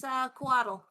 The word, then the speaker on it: Couatl: you want to do this first, if it helps, it's Coatl. How do I spell that? Couatl. Okay. Doesn't start with a Q. Literally unplayable. It's not Quetzalcoatl, it's just a normal Quaddle.